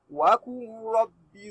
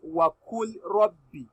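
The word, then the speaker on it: وَقُل رَّبِّ: Not wa kul rabbi. Wa kul rabbi. This lamun has become a silent letter. You don't read it. Just ignore it. You read it as wa qur rabbi.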